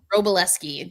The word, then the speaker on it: Wroblewski: I think that, because John Wroblewski, I feel like I always say his name wrong, but Wroblewski. How do you say it? Wroblewski.